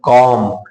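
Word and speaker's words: calm: इसी तरह से अब हम देखते हैं यम लेटर को, तो सी ए एल एम, देखो यल और यम दोनों साथ में आ गए, यल क्या हो जाएगा? साइलेंट। बोलेंगे क्या? सी ए एम, कॉम।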